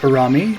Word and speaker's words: Urumi: I believe it's pronounced Urumi, but I may be wrong, is a Eastern Indian weapon.